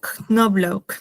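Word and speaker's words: Knoblauch: Eh, es Knobloch, Knobloch, o sea, se pronuncia como la K al principio.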